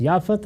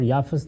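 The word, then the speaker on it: یافث: ہے اور ایک یافت۔ یافت اور یافس دونوں تلفظ ہیں، اسی طرح سم اور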